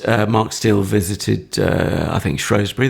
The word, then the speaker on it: Shrewsbury: Steele visited, I think, Shrewsbury, the county town, or Shrewsbury, or Shoebury, depending on how you want to pronounce it.